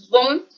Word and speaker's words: bon: Por ejemplo, bon, en masculino, bueno, bon, femenino, bon. En la pronunciación del masculino es como más nasal y el femenino es más normalito, ¿listo?